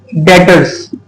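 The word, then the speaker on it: debtors: डेटर्स we will write it एज डी ई वी टी ओ आर एस ठीक है टी ई वी टी ओ आर एस बट we will pronounce it एज डेटर्स ठीक है डेटर्स होता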